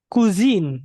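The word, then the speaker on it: cuisine: iya Nah ini sebenarnya Bacanya adalah kuzin ya teman-teman Yain kuzin kuzin kuzin kuzin kuzinin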